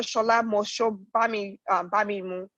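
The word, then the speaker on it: Shola Mos-Shogbamimu: you know I don't want to get her name wrong. Dr. Shola Bamimu.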